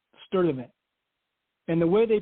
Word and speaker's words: Sturtevant: STURTEVANT. So They did not pronounce the R in Sturtevant because it was followed by a T.